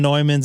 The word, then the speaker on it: Neumann: Is it pronounced Neumann? I thought it was Newman. Excellent. So Neumann.